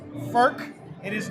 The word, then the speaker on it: Furch: so we're going to do this it is pronounced FK it is is not pronounced fch and let's let's get it straight right yeah